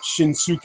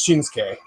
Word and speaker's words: Shinsuke: the Nakamura entrance ma the Su uh syllable in Japanese you you just say it's just a sound like in like Nar it's not suuk it's SAS and exact in Japanese it's not shinuk it's shins uh dragonx 90 asking if